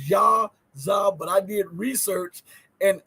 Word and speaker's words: Zha: And I got to bring in Carl Zha. I believe that is. I hear everybody saying Zha, but I did research, and I think in Chinese it's pronounced with a J sound.